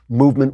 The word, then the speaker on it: MVMT: Movement is spelled MVMT, so you don't have those expensive vowels that drive up the prices of most watches.